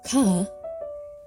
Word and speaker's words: Chet: Wall goes with the next letter, ket. Pronounced ka, this letter is said to be the modern equivalent of H, eta in Greek, and ket in modern Hebrew.